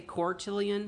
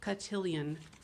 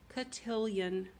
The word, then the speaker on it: Cotillion: I always want to say Cortillion with an R. It's Cotillion. Cotillion.